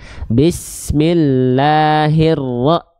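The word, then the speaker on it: بسم الله الرحمن الرحيم: Iya, makanya kalau ketika kita baca Al-Quran, kalau teman-teman merasakan vokal i ketika bacanya nggak jelas, tandanya teman-teman tidak mengangkat tengah lidahnya dengan tepat. Bismillahirrahmanirrahim, bukan hirro tapi hirro, hi bukan he gitu.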